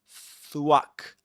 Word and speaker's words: thwack: You've got to stick your tongue in between your teeth. Between your teeth, you know, like this. Thwack. thswack. Then you pronounce the W, the W sound. You say swack swack. And it kind of it kind of rhymes with pack thwack.